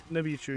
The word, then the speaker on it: Nichibutsu: How do you pronounce the company that made these? Nibichu. Nibichu, yes.